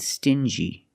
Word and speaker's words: stingy: differently example dingi and stingy these two words have the regular n Sound n plus the J like juice together stin G together stingy or d g together dingy this wall is very